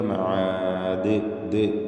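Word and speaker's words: مَعَادٍ: മഹാദ് മഹാദ് എന്ന് അവസാനിപ്പിക്കുമ്പോൾ ദാലിൽ കൽക്കല കുബ്റ നൽകണം വഖ്ഫിന് വേണ്ടി ദാലിന് സുക്കൂൻ വരുന്നു ഈ ദാലിനെ വ്യക്തമായി ശബ്ദം ചലിപ്പിച്ച് കേൾപ്പിച്ചുകൊണ്ട് വഖഫ് ചെയ്യുക മഹാദ് എന്ന് കേൾക്കണം ഈ ഉച്ചാരണത്തിനാണ് കൽക്കല കുബ്റ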